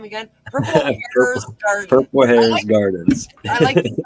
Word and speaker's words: Harez: purple purple say say the name again purple hairs Garden purple hairs Gardens I like the spelling